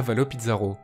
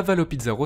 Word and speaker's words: Avalo Pizarro: effacée du monde extérieur il se pourrait que son os est un mot espagnol d'où la prononciation hispanique en effet à valleau